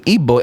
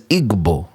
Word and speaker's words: Igbo: And apparently I was pronouncing Igbo as Igbo before. Right. And they were not happy about that.